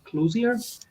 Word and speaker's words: Clouser: But anyway, yes, my guest here today on the Spirit Channel podcast is Clouser. I hope I'm pronouncing that right. Clouser, but that's Clouser.